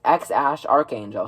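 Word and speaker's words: X Æ A-12: Well, there's two ways that the internet has been saying that you pronounce this. Now, the first way is obviously X. And then I'm pretty sure the middle name is Ash. Pretty sure that's how you pronounce it. And then A12 is apparently Archangel. Don't exactly know what that means. X Ash Archangel.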